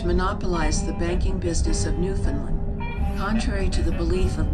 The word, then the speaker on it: Newfoundland: They will tell you that the name of their country is pronounced with the accent on the last syllable, Newfoundland.